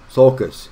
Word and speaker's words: sulcus: uh Groove I guess a suckle not the circle succulus no that's not the right word either uh let me look at it I'm mispronouncing it sulcus yeah I was gonna say I knew what it was but I wasn't seen as sulcus I'm sorry there's a